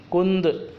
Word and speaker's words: کند: ہوشیار۔ تیز یعنی تیز۔ کند، کاف نون ساکن دال ساکن، کند، کاف کے اوپر پیش۔ کند یعنی بٹھل، جو چھری